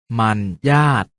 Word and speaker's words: มรรยาท: เสียง ว่า จัด สรร มรรยาท ออก เสียง ว่า มัน ญาติ สวรรคต ออก เสียง ว่า